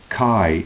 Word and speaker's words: chi: The letter X and is pronounced Kai in Greek.